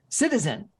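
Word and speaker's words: CITIZN: founder and ceo of something called citizen but it's spelt cit izn he uh murray is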